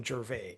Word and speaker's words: Gervais: And just to set the record straight, my name is Jer. It's also Jer. It's it's both. It's just a pronunciation thing.